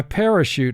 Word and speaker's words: parachute: And for spelling, pronounce it parachute. First syllable, pa, 2 sounds. P, a. Ray, 2 sounds. R, a. Shoot, 3 sounds. Sh, oo, t. Parachute.